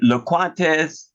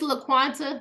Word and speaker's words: LaQuanta: to thank you uh is it lates am I pronouncing your your name right I'm the world's worst when it comes don't worry we're good it's laquanta but you can just